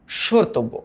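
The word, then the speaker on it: স্মর্তব্য: এই ম ফলা যদি শব্দের শুরুতে বসে ওটা উচ্চারণ যার উপরে বসছে তার উপরে একটা চন্দ্রবিন্দু দিয়ে দিবা। তার মানে এখানে দিলাম তালব্য স কারণ উচ্চারণ তো এস এইচ এর মত হইছে।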